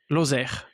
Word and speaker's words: Lozère: Lozère, L O Z E R E R E And you you pronounce it Lozère? Lozère Lozère, Lozère.